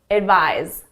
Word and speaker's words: advise: The S is at my lips, it's unvoiced. The Z is in my throat, my vocal cords are engaged, it's voiced. Advice, advise, advice, advise. So the pronunciation is very different.